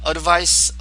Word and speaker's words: advice: 이 advice는 명사예요. 이게 발음이 스예요. 스. advice, 스. 동사는 advise, z, easy. 이건 유소음이고요. 이건 무소음이에요.